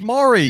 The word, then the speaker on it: Maury: Some people pronounce it Murray Povich. Yeah, how would you pronounce that? It's Maury.